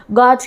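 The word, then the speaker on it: gauge: है 3 कैटेगरी में, गॉज के बेस पे। गाज क्या होता है, या गाज आप कह सकते हो, यू साइलेंट होता है, कभी इसके अंदर गैज कहते हैं, हाँ ऐसे ही कहते हैं इसको।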